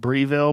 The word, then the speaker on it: Breville: Then what it did, and this is Breville, they make some wonderful, That's how you say it, incredible, Breville.